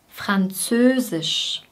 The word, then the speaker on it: Französisch: Französisch, Fran, Fran. Bei F liegen die Zähne wieder auf der Unterlippe. Fran, dann folgt das Z, Z, Z. Zö, ein langes Ö, Ö. Die Lippen sind ziemlich stark gespannt und sind leicht nach innen gezogen. Ö, Ö, Ö. Sisch, sisch. Hier ist wieder die gleiche Endung wie bei physisch.